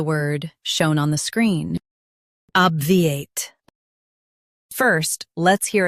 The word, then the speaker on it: obviate: In UK, stress OB and soften V8. Obviate.